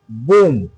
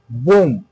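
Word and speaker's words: bomb: তাহলে আমরা বুঝতে পারলাম যে তাহলে এম এবং বি যদি পাশাপাশি থাকে এবং এই বি এর পরে যদি কোন ভাওয়েল যদি না থাকে তাহলে বি এর উচ্চারণ হবে না।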